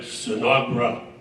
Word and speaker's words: Sinagra: He said, Sinagra. It's Italian, Sinagra. That's how it's pronounced.